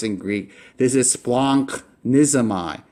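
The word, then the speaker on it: σπλαγχνίζομαι: in Greek, this is splonknizomai. Splonknizomai. So this right here, that's an NCH sound. All right, nunk. So you wouldn't say sploghnizomai. You would say splonknizomai.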